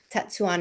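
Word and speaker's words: Tetsuan: another woman named tetsuya tatsuwan how do you say it i always say swan okay tatsu on it that's what it is so this woman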